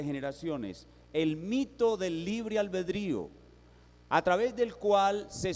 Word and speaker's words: albedrío: comenzar definiendo algunos términos la palabra albedrío no es albeldrío como algunos pronuncian es albedrío significa voluntad es solamente